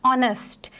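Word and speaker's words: honest: हैं नेक्स्ट point इस ऑनेस्ट और डी वर्ल्ड ऑनेस्ट जो है इसके अंदर जो आगे है वो साइलेंट है इसलिए इसको हम ऑनेस्ट नहीं पढ़ेंगे हम इसको ऑनेस्ट पढ़ेंगे सो ऑनेस्ट का मतलब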